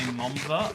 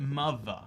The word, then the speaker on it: mother: Anyway, we don't say momther or mumther, but like you pronounce it mother as if there is a U in there.